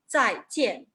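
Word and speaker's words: 再见: Lo que tienen que pronunciar, 再见, 老师再见, hasta luego, ¿verdad? En el tono ascendente. No, es 再见. Y sí, así son tonos cuartos, pero como en el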